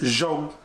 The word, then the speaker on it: zoo: in my language boom z-o-o is actually pronounced zhong which translates to good so it's like good